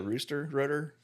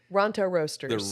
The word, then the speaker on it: Ronto Roasters: The rooster rotor? Ronto Roasters.